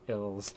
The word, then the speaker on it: ILS: It's pronounced Ills. So the band Ills, their new album is